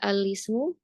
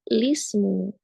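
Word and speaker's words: الاسم: Kita bisa ibtida ya dari kata alismu bacanya dengan isbat menetapkan hamzah ya di alrif maka menjadi alismu diberikan fathah atau bahkan dihilangkan si hamzahnya menjadi lismu. Jadi ketika kita ibtida bisa bacanya alismu atau lismu.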